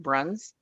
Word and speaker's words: Brauns: meeting and people mispronounced our last name it's pronounced bruns and as a result now he has a